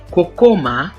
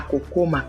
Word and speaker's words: kokoma: Kokoma.